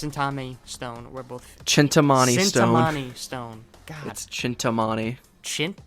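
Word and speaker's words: Cintamani: dagger and thus in Tommy stone were both chintamani domani stone that's chintamani schwindt dump choo choo you might have misspelled it yeah it's see i CIN Timani yeah but it's it's pronounced chintamani that's weird anyway they were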